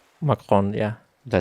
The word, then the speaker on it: Macron: Marcon. Macron.